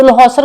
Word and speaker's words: Losar: अब देखो यहाँ पे LHOSAR है, कई जगह पे इसके स्पेलिंग मिलेंगे LOSAR, लोसर, राइट। लोसर ही इसको प्रोनाउंस करते हैं, तो किसी जगह पे ये H मिलेगा, किसी जगह पे नहीं होता।